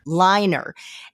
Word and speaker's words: Liner: think it was uh if I'm going to pronounce it correctly liner or laner health product correct liner and you were the